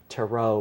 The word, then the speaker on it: tarot: that's where you get the word tarot with the silent T at the end okay um I believe